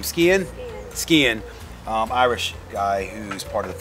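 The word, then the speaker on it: Skehan: Skian.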